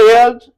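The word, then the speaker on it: heirs: फॉर the mail एयर्स, एक तो ये H और R दोनों इसके साइलेंट होते हैं, ठीक।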